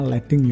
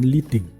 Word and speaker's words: leading: Ini bacanya leading ya, bukan leading, karena ini berasal dari kata lead, timah itu.